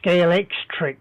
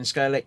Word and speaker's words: Scalextric: yeah yeah I know apparently they pronounce it scalex trick don't they both yeah yeah I'd say the same as Colin's been saying scalic yeah scale Electrics yeah like strick yeah I know but so what I'm mispronunciating it yeah we always we